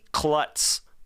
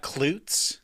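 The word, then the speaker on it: Klutts: that Kelly sent Mickey Klutz that's his name k-l-u-t-t-s it's not kloots it's possible it is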